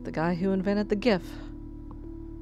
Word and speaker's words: GIF: guy who invented the GIF says it's pronounced Jeff well he is wrong and I will fight you on that team hard G for life okay not man are